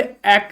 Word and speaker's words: ache: एक की स्पेलिंग ध्यान दीजिए, ACHE। ठीक है, क्लियर। तो ये तो हो गया दर्द के लिए। ठीक है, एक नहीं पढ़ना है, इसको एक पढ़ना है।